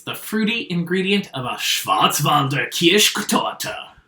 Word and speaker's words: Schwarzwälder Kirschtorte: What is the fruity ingredient of a Schwarzwälder Kirschtorte? You didn't say it right. Schwarzwälder Kirschtorte. Schwarzwälder Kirschtorte. Yeah, that's better.